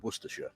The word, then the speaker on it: Worcestershire: being Warwickshire, Staffordshire and Worcestershire. And yes, for any Americans watching, that is how you pronounce those place names.